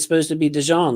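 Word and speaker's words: DeJean: like about that player Voss is that he pronounces his name Dee and it's supposed to be dejon like you pronounced it like that's French bro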